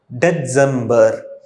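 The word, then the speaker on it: Dezember: கடைசியாக டிசம்பருக்கு டெட்சம்பர்.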